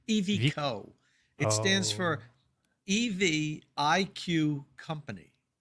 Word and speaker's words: EVIQO: how to pronounce the damn thing. It's not a good name in my opinion. So it's EVIQO.